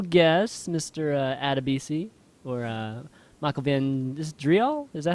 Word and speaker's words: Van Driel: Adebisi, or Michael Van Driel? Is that how you say it? Yeah, Michael Van Driel, if you want to use the real name.